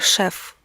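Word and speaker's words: chef: Причем вот здесь важно отметить, что пишется оно C-H-E-F, но читается шеф. По правилам чтения во французском.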